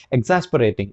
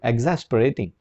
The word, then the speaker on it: एग्जैस्परेटिंग: इसको आप एग्जैस्परेटिंग बोलेंगे। प्रोनाउंसिएशन अलग अलग तरीके से कर सकते हैं। इसकी करेक्ट प्रोनाउंसिएशन है एग्जैस्परेटिंग। इसका आ और ओ के साउंड को हल्का सा मिक्स करेंगे, एग्जैस्परेटिंग, राइट।